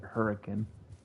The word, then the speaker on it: Hurricane: Or the town that is spelled Hurricane, but we pronounce it Hurricane.